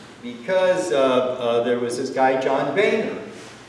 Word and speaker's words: Boehner: there was this guy, John Boehner. John Boehner's name really is John Boner. It's true. He had to ask them to not pronounce his name like that.